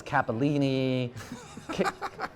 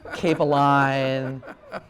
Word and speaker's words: Capeline: But people think it's Capellini, Capeline.